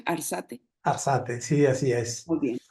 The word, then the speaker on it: Arzate: ¿Así se pronuncia, Arzate? Arzate, sí, así es.